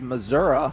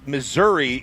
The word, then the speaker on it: Missouri: You know why they say it like that, right? No, not a clue. Because then it Missouri, it sounds like misery and they don't want that connotation.